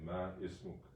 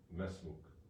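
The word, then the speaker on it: ما اسمك: You see, you don't say ma ismuk. You would say mesmuk.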